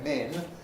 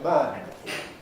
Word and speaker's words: men: Instead of men, people, well, some Americans say min, other Americans say man.